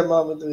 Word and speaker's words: Mamadou: Now, is it pronounced Mamadou or do I just say that? Yeah, Mamadou, yeah.